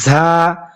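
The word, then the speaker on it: ز: র আর ঝা, মনে রাখবেন ঝা হরফটা উচ্চারণ করতে অনেক যা এভাবে না, যা হরফটা উচ্চারণ হয় অনেকটা মৌমাছির মতো।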